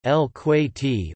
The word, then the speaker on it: الكويت: Kuwait, listen, Arabic, Al-Kuwait, Al-Kuwait, Gulf Arabic pronunciation, El-Kuwaiti or El-Kuwaiti, officially the state of Kuwait Arabic, DW Al-Kuwait Dalit Al-Kuwait, is a country in Western Asia.